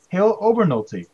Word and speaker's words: Hale Obernolte: his list with us and his name is halo Bernal t take it really here I pronounce it correctly correct yeah that's right yeah